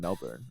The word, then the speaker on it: Melbourne: He uh, kept saying Melbourne.